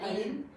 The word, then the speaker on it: Aline: Y entonces, ayer que me escribe ya para confirmar hoy, le pongo, no es Alina, es con E al final, pero se pronuncia sin la E. Mi nombre se pronuncia Aline.